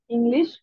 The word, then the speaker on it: Englisch: Ich spreche Bangla, Englisch und ein bisschen Deutsch.